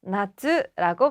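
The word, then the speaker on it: 夏: 좋겠죠 역시 보기로 등장했네요 여름 하짜는 훈독으로 나츠라고 발음하죠 정답은 2번입니다 1번에 하루는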